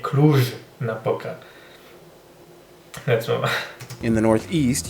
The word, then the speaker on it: Cluj-Napoca: Cluj-Napoca, we call it. So it's Cluj-Napoca, that J is not the Y like the Germans do it, or it's really a J, Cluj-Napoca.